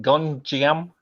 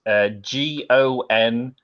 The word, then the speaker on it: Gonjiam: Yeah, it's called I can't even pronounce it. Gonjiam Haunted Asylum. That's Gonjiam.